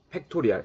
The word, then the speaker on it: 팩토리얼: 1이 될 때까지 1씩 작아지면서 이걸 계승이라고 하고 얘를 뭐라고 읽냐? 팩토리얼이라고 읽습니다. 뭐라고 읽는다고? 팩토리얼. n 팩토리얼. 5 n이 5면 5팩토리얼 읽을 거야.이 느낌표가 아니고 팩토리얼이라고 읽습니다.